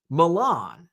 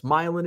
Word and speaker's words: Milan: duh that's Marse or that's Milan no it's milin and marceles or Koo